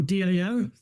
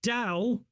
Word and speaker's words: Tao: call it to because it's spelled two different ways uh Tao or Dao uh because uh there's a silent in it uh but Dow every Chinese word has